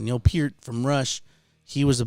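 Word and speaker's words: Neil Peart: that was uh our peer is how you pronounce his name neil peter from rush he was a big influence and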